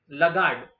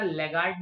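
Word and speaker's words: laggard: Next question is लगार्ड। Okay, इसका pronunciation ध्यान रखना, लेगार्ड नहीं बोलते, काफी लोग लेगार्ड बोलते हैं, लगार्ड।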